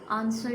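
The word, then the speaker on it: answer: नो में के is silent, bridge bridge में डी इज साइलेंट, ऑनेस्ट में एज, ऑनर में एज एंड आंसर में डब्ल्यू, डब्ल्यू क्या है इसमें साइलेंट है।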